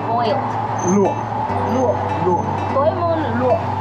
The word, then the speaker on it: luộc: Luộc.